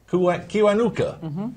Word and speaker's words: Kiwanuka: Y sex chromosome, the Ugandan Finance Minister, Maria Kiwanuka, am I pronouncing it correctly? Kiwanuka.